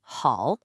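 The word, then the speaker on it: 好: The second character hal means good and it also has a third tone mark.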